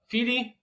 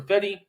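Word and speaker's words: Fedde: next two Eric uh fi or fedy I believe is is how we say his name and I apologize because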